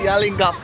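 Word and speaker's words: Yallingup: else so ias Pastor the correct pronounciation is yelling up yelling up yelling up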